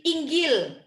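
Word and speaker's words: إنجيل: Makanya orang Mesir itu bilang Injil itu bukan Injil, Inggil.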